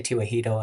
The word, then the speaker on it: Tewahedo: So, I say Tewahedo, and they seem to think that that's normal. That's the right Yeah. pronunciation.